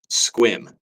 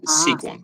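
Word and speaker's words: Sequim: seq UI M and it's pronounced squim but looks like sequum Sim yeah but twim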